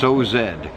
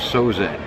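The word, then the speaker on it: Sauzedde: My last name is pronounced Sozed. And the A and the U make an O, and the last E is not pronounced, so it's Sozed, 2 syllables.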